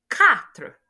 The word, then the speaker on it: quatre: Your Q will not be pronounced as Q, like queen in English, but it will be pronounced as K. That's why the second example after your cat is quatre, not quatre. No, it is quatre.